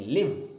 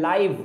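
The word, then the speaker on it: live: Where does she लिव, लिव इसको बोलेंगे, लिव। एक होता है लाइव, बोलते हैं ना लाइव क्लास है, लाइव मैच है, सेम स्पेलिंग है लेकिन उसका तलफ़ुज़ होता है लाइव, ऑनलाइन जो चीज़ें होती हैं लाइव, ये है लिव, मतलब होता है रहना।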